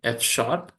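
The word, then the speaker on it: F#: when it comes to other programming language right fshp so F pronouncing as F uh that makes it is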